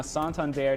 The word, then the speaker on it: Santander: kept getting that's you know the answer now santander tell your friends tell your families tell the